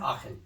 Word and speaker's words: Aachen: this is one that is how you where pronounce it? yeah, Aachen.